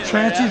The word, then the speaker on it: Chauncey: the locals call it you know why it's called different than what it's spelled why is that that way they could tell who the revenues were seriously true story when they come in chancy's always called chancy and